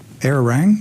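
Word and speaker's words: Arirang: Korean television channel uh doc how do they pronounce this errone air rang yes okay air rank news um and uh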